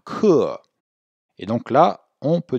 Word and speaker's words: 客: Remarquez qu'on prononce bien le E bien ouvert. Hein, 课.